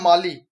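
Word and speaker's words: Mali: The first India मली export promotion forum was held in which state of मली? तो भाई कहाँ, सॉरी मली नहीं, माली, आई एम so sorry, माली। माली pronunciation बोल करते हैं इसे।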